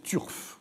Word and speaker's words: turf: Et je pense qu'il faudrait prononcer « turf », comme on dit « turfiste ».